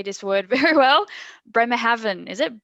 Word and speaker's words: Bremerhaven: i can never say this word very well bremer heaven is it bremer heaven oh perfect i know you pronounce it very well i would say is